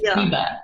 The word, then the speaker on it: Ryba: It means big fish." I said, "Okay, thank you." I love that. Yeah, it's pronounced Ryba.